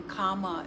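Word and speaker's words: kamma: word karma is actually sanskrit and the in comma in is in pali how we will pronounce it or how we say it in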